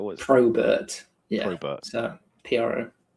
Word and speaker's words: Probert: Not Robert with a P. Not right, although that is the easiest way of getting people to spell it correctly. It's Robert with a P in front.